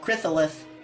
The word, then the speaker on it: Chrysalis: Did I pronounce that right, Fanboy? Chrysalis.